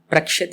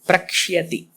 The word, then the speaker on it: प्रक्ष्यति: So here it is not prakshati, it is prakshyati. There is a yakara there. Prakshati. Prakshyati. Yeah, you should, because yakara is a full yakara, so you should give enough time to pronounce that.